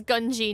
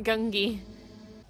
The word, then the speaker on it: Gungi: wrong the entire time it's gunji not gungi don't tell me there's